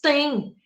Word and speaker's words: têm: Tanto faz eu dizer tem no singular, ó, ele tem, como no plural, eles têm. A pronúncia é a mesma, a escrita praticamente será a mesma.